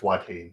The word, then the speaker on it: Watain: this but Wain why I don't know how pronounce that yeah it's wat wat okay so to funeral by watain from 2010 going going against a song that